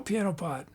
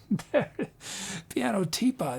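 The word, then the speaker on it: pianoteapot: How is your show, pianotpot? Oh, I'm saying it wrong. It's what? How am I supposed to say? Is it piano teapot? Piano teapot. That makes okay. Sorry, I missed that T.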